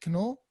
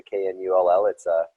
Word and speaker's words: Knull: Normally cases are non-silent, but it's a German pronunciation, and in Germany they like to pronounce all the letters in every word, and so with the K-N-U-L-L, that's the way to say it, is the Knull.